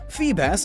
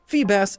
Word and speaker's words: Feebas: Feebas is assumed to be a bass, and it transforms into a beautiful serpentine sea dragon. Fun fact, Feebas's name Beautiful. phonetically is the same as Phoebus, which means shining one